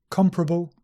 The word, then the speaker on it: comparable: more comparable pleasurable and sometimes people say these two words with four syllables comparable and pleasurable but the more standard and common form is just three syllables comparable pleasurable variable and this